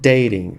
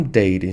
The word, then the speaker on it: dating: e repare so dating no inglês americano é super comum T ganhar um som de R so dating e não dating dating So dating Então